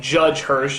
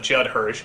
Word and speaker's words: Judd Hirsch: there for whatever reason i could never quite pronounce correctly like judge hirsch instead of judd hirsch ralph bashki instead of ralph bakshi but the